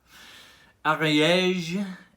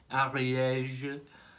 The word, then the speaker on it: Ariège: Ariège is an area in France. I'm not too sure. I think it's North France. I think it's pronounced Ariège. Ariège, but it's Ariège pipe smoker.